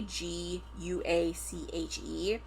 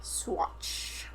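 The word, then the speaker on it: Saguache: agency, he went to the nearby town of Swatch. We're going to hope I pronounce that right. Amy looked it up for me earlier. It's spelled s a g u a c h e and so I wanted to pronounce it.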